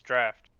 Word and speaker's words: draught: It's draft in this context.